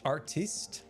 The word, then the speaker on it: Artiste: I think you mispronounced B-Dubs' name. It's Artiste B-Dubs.